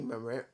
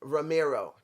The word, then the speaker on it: Romero: we got raju versus rocky murr i always mispronounce um romero there you go i don't speak spanish i don't roll my r's guys look i may